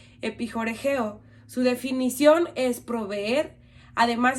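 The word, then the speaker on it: ἐπιχορηγέω: Esta palabra suministra en griego se pronuncia epijoregeo.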